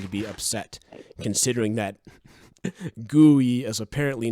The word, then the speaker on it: GUI: it is the fault that's how you say it though iridium right isn't it gooey i mean you could say gui but that is how you say it i am not crazy here you do say gooey it's gotta be gooey i'm i can't be the only person who says it that way and there is the